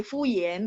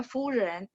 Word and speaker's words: 夫人: Jadi bisa jadi harusnya bacanya fusion, cuman dia karena mau angkat lidahnya ke langit-langit sehingga ini apa namanya? Dia kan nggak bisa angkat, jadi pronunciation-nya jadi fuyen gitu. Padahal enggak, harus pronunciation yang benar ada furen.